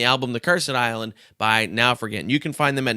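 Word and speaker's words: Naufragant: because who knows n-a-u-f-r-g-a-n-t it's like now fragrant but without the r extra r in there and uh you can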